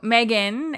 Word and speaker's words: M3GAN: that one maybe uh so Megan and if you see it in the show notes it's spelled m3gan um which is short for